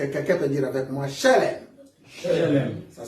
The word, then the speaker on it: shalem: Est-ce que quelqu'un peut dire avec moi shalem? Shalem. Ça s'écrit S-H-E.